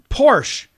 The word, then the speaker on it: Porsche: Porsche, no, it's Porsche.